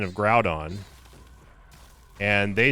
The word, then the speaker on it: Groudon: Now, Bon Bonjour Shioval was talking about the pronunciation of Groudon and they said that Grudon is pronounced like we like we pronounce the Ou in French and I under I understand that.